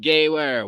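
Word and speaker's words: Gewehr: Gawer is pronounced Gayware. Where meaning war. Gawar. Of course. Gawar 38. Gawar 38. Yeah. Mid-range Fucking sniper A. rifle. W is pronounced V in German.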